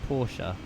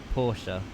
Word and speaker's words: Porsche: Porsche is announced with two syllables. Porsche. Porsche.